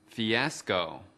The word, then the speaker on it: fiasco: Từ fiasco có 3 âm tiết. Trọng âm của từ fiasco ở âm tiết thứ hai.